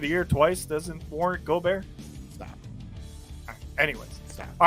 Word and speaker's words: Gobert: You broke up Rudy Gobert. Gobert, yeah. Gobert. Listen, my wife is French. You better pronounce that correct.